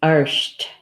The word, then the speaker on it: art: bear bear and in in Gaelic its arched I think that's how I say they say it AR s HT arched arched and the way they spell it is AR T right and so the AR